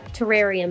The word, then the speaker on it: terrarium: to rhenium hi there I am going to say this word incorrectly for like 30 more seconds and then after that I promise me to say it correctly by very aware that it's terrarium now after talking to